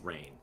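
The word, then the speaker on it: Rayne: And if you unravel it, it says, "Sorry, it's rain."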